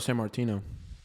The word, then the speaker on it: Sammartino: Sammartino.